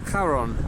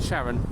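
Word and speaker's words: Charon: have a moon and if you chose to mispronounce it you could say the Moon is called Sharon here we are now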